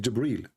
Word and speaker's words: Jibreel: It's not Gabriel, by the way, it's Jibreel. Even Muhammad, he got the name wrong.